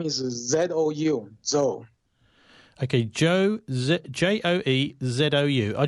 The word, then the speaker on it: Zou: His last name is Z-O-U.